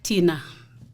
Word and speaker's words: Thinah: to speak about myself who I am so Tina I believe you heard the way I pronounced my name Tina not Tina yeah cuz